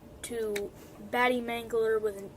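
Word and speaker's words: Batte Mangler: don't know how to pronounce it the the pronunciation for my channel name is bad Mangler okay just have to clear it up you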